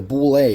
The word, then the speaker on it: bulette: today we had the bule or bullet as you might pronounce it or land shark I